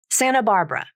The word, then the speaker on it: Santa Barbara: by a vowel and the T sound disappears from the pronunciation native speakers don't always